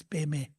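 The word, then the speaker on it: པདྨེ: So Padma, actually that's a Sanskrit word and also same as a Tibetan, but D in Tibetan is silent, so we pronounce as Peme.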